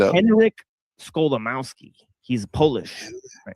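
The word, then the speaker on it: Skolimowski: it up Henrik Scholamowski he's Polish okay Henrik yeah and it basically sounds exactly as it's spelled sko right um um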